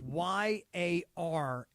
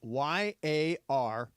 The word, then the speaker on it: yarmulke: I'm gonna take a shot here, and I think there's an R in there, like YARMUKAH. You are so damn close. The correct answer is YARMULKE.